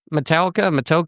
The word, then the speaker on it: Matoaka: because I'm sure I'm going to butcher the pronunciation. But it's Matoaka. Matoaka. Matoaka. Yes, ma'am. Matoaka.